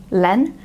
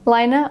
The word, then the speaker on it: Laine: And they did send me a voice message in response saying that you should pronounce it the Finnish way and not the French way.